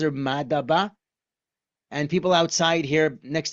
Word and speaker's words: Madaba: In English, we pronounce it Madaba.